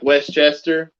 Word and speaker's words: Westchester: that no westchester county so you say it like westchester yeah it's west chester but it's one word westchester yeah okay we moved